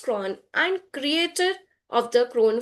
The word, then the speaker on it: CRWN: She is the founder and chief learning officer of CRWN Institute, pronounced Cron, and creator of the Cron framework.